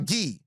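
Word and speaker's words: Gueye: They signed Muhammadu Guy uh Muhammad Muhammadu Gay uh Gee Muhammadu Gee is how you pronounce it.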